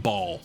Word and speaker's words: Baal: And then finally, we have the Raiden Shogun, the Electro Archon herself, whose name I believe is pronounced Baal. Same way like 7 Deadly Sins has Bon, she's Baal.